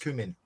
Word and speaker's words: cumin: or something right well it's actually an ingredient in uh curry and it's pronounced cumin um i love the